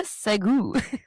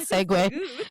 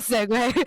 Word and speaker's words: segue: What a Segou. It's called Segue. It's called Segwe. I know how it's pronounced, guys, but I like I like mispronouncing words for fun.